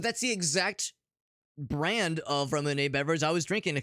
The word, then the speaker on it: Ramune: Yeah, maybe I've been mispronouncing it wrong this whole time. I thought it was Ramune, but that's the exact brand of Ramune beverage I was drinking a couple days ago.